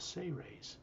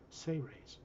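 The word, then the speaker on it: Seres: race known as the say rays it's spelled s-e-r-e-s but pronounced as if it was spelled s-a-y hyphen r-a-y-s say rays he's showing you an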